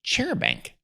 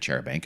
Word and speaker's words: charabanc: There was a chair bank trolling along the road, this same stretch of road in Dartmoor.